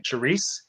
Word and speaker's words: Charisse: Charisse.